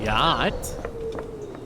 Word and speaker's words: yacht: There's a yacht. Yeah, there's a yacht. A yacht. I don't like yachts. I never trust words that have two silent letters in them.